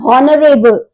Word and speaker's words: honorable: Again, H is silent. It is not honorable.